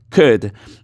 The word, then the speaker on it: could: c que en donde no se va a pronunciar la l could y luego tenemos el